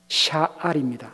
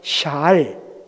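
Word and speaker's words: שָׁאַל: 여러분, 흥미로운 것은요, 다윗이 하나님께 묻자와 하나님께 물어, 영어로 ask, inquire 이렇게 번역되는 이 묻다라는 히브리 단어가, 한번 보여주세요, 샤알입니다. 한번 발음해 보십시다. 샤알, 샤알입니다.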